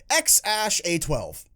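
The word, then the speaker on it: X Æ A-12: which i looked up how to pronounce is pronounced x-ash a-12 that's still really stupid pronounced x-ash a12 that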